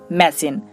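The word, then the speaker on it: machine: দুটি স্বরের মাঝে যখন সি এইচ আসে তখন তার উচ্চারণ বেশিরভাগ ক্ষেত্রেই তালব্য স এর মতো হয়, যেমন মেশিন, দেখুন এখানে আমরা সি এইচ পাচ্ছি, তার আগে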